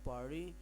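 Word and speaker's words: party: अब पार्टी इज़ एंड यू आर आप सोच होंगे ये पार्टी ने गलत प्रोनाउंस किया, लेकिन ये एक इलेक्ट्रिक है क्योंकि अमेरिकन एक्सेंट उसमें टी को डी प्रोनाउंस किया जाता है। सो for that reason I यूज़ पारी।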